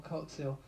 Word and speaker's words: Coxhill: I do it I always say his last name wrong but is definitely L coil and you'll probably hear that on a recording